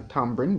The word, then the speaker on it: tamarind: and riboflavin number nine tamarind tamarind fruit after tamarind tree tamarindus indica generally pronounced the tambrine by some jamaicans is an indecent legume